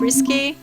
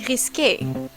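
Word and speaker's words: risqué: So, this is your idea of risque? It's actually pronounced risque.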